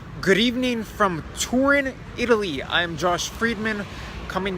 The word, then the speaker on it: Turin: good evening from Turin Italy I'm Josh Friedman coming to you from outside the NH wing Gatto Congress hotel here in Torino or Turin as it is pronounced in English where I think we